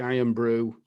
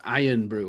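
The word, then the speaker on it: Irn-Bru: they're called ben shaw's now and they make iron brew they invented iron brew oh did they you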